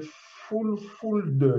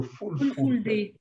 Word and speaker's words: fulfulde: Vous parlez l'italien, le sango, qui est la langue nationale de la République centrafricaine, et le fulfulde, j'espère que je prononce bien, le fulfulde.